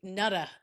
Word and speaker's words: Nat: we're tasting today or wait nut I believe is how you said we should pronounce this.